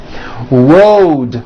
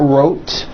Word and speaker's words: road: Road also has a voiced D ending. Road. It's not wrote, unvoiced, it's road.